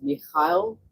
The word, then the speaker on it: Mikhail: So Michael, or am I getting it wrong because it's actually pronounced Mikhail? What's the right way, my friend? The right pronunciation is Mikhail.